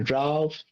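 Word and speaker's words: draught: It's like if someone like brews some sort of like potion or something, like a draft or drought, something like that. It is pronounced draft, And- I think.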